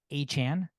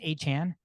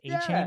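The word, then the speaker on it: Achane: of a sudden he want his name is pronounced Devon a Chan it's not changing Japan it's a Chan so it's kind of a letdown sounds like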